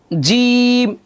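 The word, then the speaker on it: جيم: কি কি খেয়াল করেন, নুক্তাযুক্ত হরফ মোট 15টি হলো বা, বা, বা, আমার সাথে বলেন, বা, তা, সা, জিম, শক্ত করে জিম।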